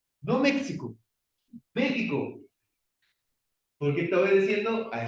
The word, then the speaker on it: México: otra palabra muy conocida México no México México porque estaba diciendo a esa otra pronunciación entonces la x no es necesariamente o puede ser esa j Bueno ahora cuando nosotros